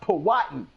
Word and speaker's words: Powhatan: It's pronounced Powhatan.